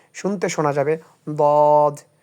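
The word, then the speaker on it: ضاد: যেমন এখানে আপনি দেখেন এই একটা নোক্তা আছে এটার নাম হচ্ছে দদ। উচ্চারণ করতে হবে এইভাবে। দেখেন বাংলাটা ঠোট গোল করে উচ্চারণ হবে। শুনতে শোনা যাবে। দদ দ।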